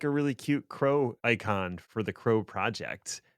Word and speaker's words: kro: And like just high level elevator pitch, what does Crow do? Yeah, sure. So it stands for Kube Resource Orchestrator. And as you rightly said, it is pronounced crow, which is the bird, right?